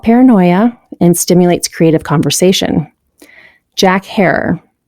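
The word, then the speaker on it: Jack Herer: and stimulates creative conversation Jack her pronounced like Terror it's Feelgood strain it's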